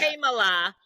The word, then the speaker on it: Kamala: You can't pronounce that. Kamala, cat. It's very simple.